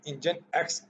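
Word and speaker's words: nginx: हमारे पास इंजन है जिसको हम इंजन एक्स के साथ प्रोनाउंस करते हैं, इज़ the sound most popular open source web server.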